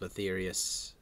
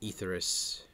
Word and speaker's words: Aethereus: Legends of Aetherius. Or Aethereus, should I say. Because it's the Aether.